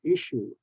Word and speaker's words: issue: all those words okay issue two s's have the sh sound issue and then the next